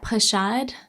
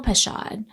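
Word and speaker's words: pachad: I'm going to not pronounce this properly, but pashad p a c h a d and yura y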